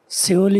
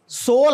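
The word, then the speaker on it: Seoul: ओ यू एल जी सल इ the capital of the country ट लार्जर इकोनॉमी टस हा सोल है इसका तलफ सोल just like SO यूल एस ओ एल ई दोनों का सोल ही है तीसरा य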